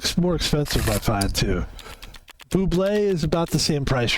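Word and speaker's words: Bubly: My 2 favorite sparkling waters are LaCroix and Buble. I think it's called Buble. It's spelled like bubbly, but it's called like Buble, and it's fucking amazing.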